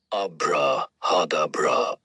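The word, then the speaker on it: ABRAHADABRA: A B R A H A D A B R A pronounced abraadabra.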